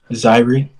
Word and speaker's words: Zyree: is zyree correct yeah it's pronounced diary like zyrie got you got it